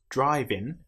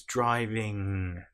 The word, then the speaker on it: driving: You'll notice it's not driving, and even some English people will pronounce this wrong, depending on which part of the country they're from. It's driving.